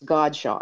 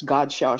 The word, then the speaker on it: Godchaux: Louisiana, and there was Godchaux, and there was Godchaux Sugar, and that was big down here. They called it Godchaux in the South instead of Godchaux. You know, we always had the French pronunciation.